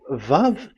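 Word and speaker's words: וָו: So the word, the shape Vav is really pronounced V, like Vogue.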